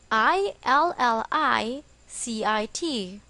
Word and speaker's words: illicit: or against the law it is also pronounced as illicit the stress is on the second syllable examples he had been